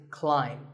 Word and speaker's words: climb: see on the screen the AI is an i sound not an a sound so the word is Climb by the way what's